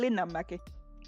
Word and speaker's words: Linnanmäki: Linnanmäki. Linnanmäki.